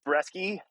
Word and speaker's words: Breske: But anyway, yeah, no, my name is Breske. Rhymes with jet ski, so people remember.